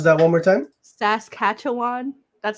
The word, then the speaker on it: Saskatchewan: Oh, Saskatchewan. And you know what? I know what that is because I listened to Missing and Murdered. So hold on. Pronounce that one more time. Saskatchewan.